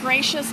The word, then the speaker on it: Gratias: my website and because my name is pronounced gracious but it is not spelled that way so pardon me well